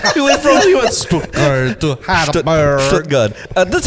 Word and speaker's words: Stuttgart: Stuttgart. That's how they pronounce it.